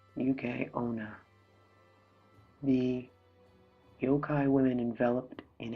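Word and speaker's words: yuki-onna: thick shell making them highly resistant to damage pronounced UK onna the yokai women enveloped in a haze of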